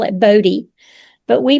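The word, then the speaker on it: Boddie: And we and we say Body. I have other members in the family that call it Body.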